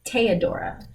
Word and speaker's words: Theodora: like Theodore by the way her name is pronounced teodora but they pronounce it Theodore because at the